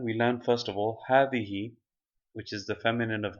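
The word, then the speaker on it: هٰذِهِ: learned first of all havihi which is the feminine of hava it is pronounced but the alif is omitted in writing so if you can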